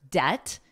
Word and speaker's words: debt: Now notice the B is totally silent in the word debt. You don't hear it at all. Debt.